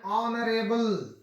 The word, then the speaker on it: honorable: For example ಹೇಗೆ ಇಲ್ಲಿ ನೋಡ್ಕೊಳ್ರಿ, an are, an honest man, an honorable, an heir, ಈಗಾಗಲೇ ನೋಡ್ಕೊಂಡಿದ್ದೇವೆ.